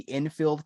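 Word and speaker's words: Enfield: Well, there is based sort of inspired by, is it the Infield Poltergeist? Am I pronouncing that correctly?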